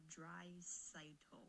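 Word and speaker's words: Draisaitl: Dreisaitl. That's how you pronounce it.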